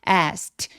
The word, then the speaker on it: asked: 자, 여기 ask 할 때 왜 제가라고 발음했냐면 ask. 자, 그 소리처럼 성대가 울리지 않은 무성으로 끝나면이는 통째로 그냥 트로 발음합니다. 그래서 asked 그리고이 k는 기억 받침 정도로 아주 가볍게만 처리해서 거의 소리가 나지 않아요.